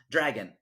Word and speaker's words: Dragan: Dragon? What's that? His name's Dragon? It's like Dragan or something. So it's still pronounced Dragon.